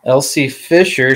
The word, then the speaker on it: Elsie Fisher: Sorry, is that how you pronounce it? Yep. Elsie Fisher.